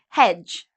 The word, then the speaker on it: hedge: type of plant hedge again you see D and G together we don't pronounce the d pledge okay um pledge